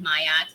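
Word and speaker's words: Maat: If you see it and hear it, it's different. It's M-A-A-T, Mayat, the foundation.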